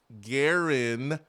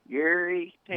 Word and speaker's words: Garantano: So it's like saying guarantee, but it's Garantano. Gary Tano. No. Guarantee, but you take off the T.